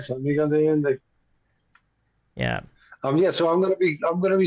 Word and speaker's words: San Miguel de Allende: Did I get the pronunciation right? Very good. Very good. You got it right. San Miguel de Allende.